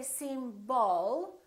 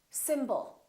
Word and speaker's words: symbol: Let's take a word like symbol. We have two syllables. The first syllable is stressed, and the second syllable is reduced. When we have a reduced vowel, we don't pronounce it fully. We don't say symbol. We reduce it and we pronounce it as a. Symbol. Symbol.